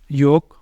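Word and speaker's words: yolk: ओ के बाद एल जैसे योक और फोक ये भी दोनों जो वर्ड है यहां पे भी होगा एल साइलेंट यहां पे भी हम एल को नहीं बोलेंगे एल रहेगा इधर भी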